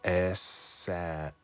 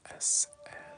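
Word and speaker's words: aisselle: Pronounced S-L. S-L. Ooh, I like that. S, am I saying it right? S-L.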